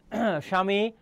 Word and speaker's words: স্বামী: স্বামী, তাহলে দেখো ব ফলা শুরুতে থাকলে তার উচ্চারণ হবে না।